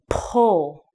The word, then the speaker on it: pull: So full and pull have the same pronunciation at the end. The only thing that's different is the beginning. When you want to do the p, your lips are together.